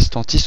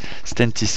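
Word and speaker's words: Stellantis: C'est Stantis ou Stentis ? Stentis, excusez-moi.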